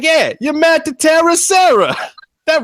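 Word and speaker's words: Serra: Matt Sarah, his nickname is Terror because it somehow rhymes with Sarah.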